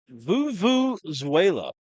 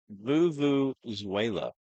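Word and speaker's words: vuvuzela: So expect the Hamburg crowd to be loud, and you hear the, how you say it again? Vuvuzuela. Not Venezuela. Vuvuzuela.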